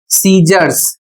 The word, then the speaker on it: scissors: इसका प्रोनंसिएशन है सीजर्स।